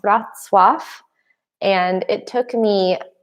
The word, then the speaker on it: Wrocław: vlogs, I have one on a town called Wrocław, and it took me like a couple days to learn how to pronounce it correctly. But in English, it looks like it's called Wrocław, phonetically speaking, but it's not.